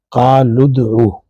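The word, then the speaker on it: ادعوا: حمزہ ہے، الف ہے، یہ حمزۃ الوصل ہے، تو پچھلے لفظ کے ساتھ جب یہ ملتا ہے تو یہ تلفظ سے گر جاتی ہے حمزہ، لہذا آپ کہیں گے قال ادعو، ویسے ہے ادعو۔ اور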